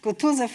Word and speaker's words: Kutuzov: Kutuzov rhymes with Franzuzov, so it is funny as well.